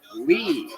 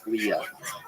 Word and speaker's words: Lea: my last name is l EA so everyone pronounces it Leah so when I was